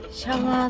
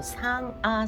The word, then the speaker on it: 상아: 오늘은 제가 제가 키운지 올해 3년째 되고 식한지 거의 3년이 된 어 샹아 스페셜입니다. 샹어가 아니고 상아 스페셜. 모음 발음이 될 때는 안 되고 안 될 때는 되고 참 경상도 발음이 안 됩니다.